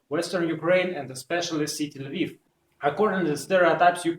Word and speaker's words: Lviv: For example, last October I was in city Lviv in western Ukraine, or in Lvov in Russian pronunciation, and despite I speak